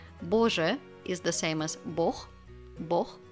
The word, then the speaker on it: Бог: Боже is the same as бог. Бог, we pronounce it with a х at the end instead of г.